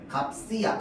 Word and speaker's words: 값이: 자, 그래서 시옷이 연음될 때는 어떻게 한다? 쌍시옷으로 발음해줍니다. 발음할 때. 값이야, 값이.